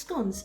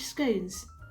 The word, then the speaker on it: scone: have our beautifully finished scones slash scones as you might have been able to tell already i pronounce it scone as in gone but if you pronounce it scone that's absolutely fine too and here's what it